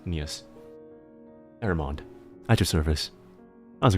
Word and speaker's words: Nious: It's Nious. Have you heard the game Nier from Square Enix and Platinum? Yeah. It's Nier, but without the R part. With the then it's an S. Nious.